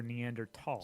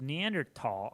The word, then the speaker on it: Neanderthal: I noticed in all your lectures you use Neanderthal. I've always heard it as Neanderthal. Is it a preference? A preference, and there's no H sound when it's pronounced in French and German.